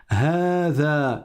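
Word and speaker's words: هذا: Hada, il faut prolonger.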